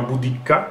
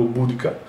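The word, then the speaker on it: Boudicca: viene chiamata in realtà si chiama budicca o budka che è praticamente una regina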